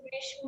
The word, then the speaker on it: গ্রীষ্ম: গ্রীষ্ম হবে কিন্তু জি ম্যাম। হ্যাঁ দেখতে মনে হয় না গ্রীষ্ম, আসলে কিন্তু উচ্চারণটা হবে গ্রীষ্ম।